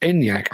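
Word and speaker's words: Enyaq: life is death and apparently yes it is pronounced enyak I had a wild stab and my wild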